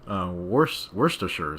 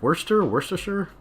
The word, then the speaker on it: Worcestershire: Worcestershire sauce. Though Americans say the sure wrong.